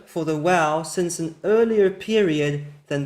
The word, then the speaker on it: waw: So it's a medieval pronunciation where they started merging the pronunciation of soft bet and wow rather than keeping them as two separate sounds.